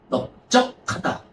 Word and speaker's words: 넓적하다: 근데 넓 지은만 예외적으로 리이 아니라 비읍으로 한다. 그래서 넓 쭉 하다 넓적하다. 이런 식으로 그래서 넓은 기상지으로 이렇게 알겠니?